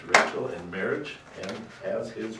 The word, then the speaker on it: Rachel: Jacob begins to work for Laban and in return asks for Raquel, it's actually pronounced Rachel, in marriage and as his wages.